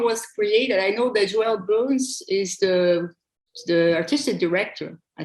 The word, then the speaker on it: Joël Bons: Joël Bons.